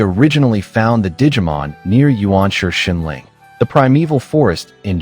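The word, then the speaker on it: 原始: In the digital world Shambhala in the primeval part, which is pronounced Yuanshi in Chinese and Ganshi in Japanese.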